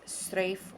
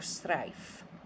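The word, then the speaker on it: Straif: And then the next card is the blackthorn tree, otherwise pronounced as strafe or strife.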